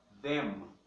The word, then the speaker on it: them: mesmo com o M, no inglês não. Terminou em M, é M. Terminou em N, é N. É como se fosse um gráfico aberto, ele vai fazendo um fade. Aqui não, ele fecha. Them, then.